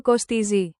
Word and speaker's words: κοστίζει: Slow. Πόσο κοστίζει? Emphasize the T.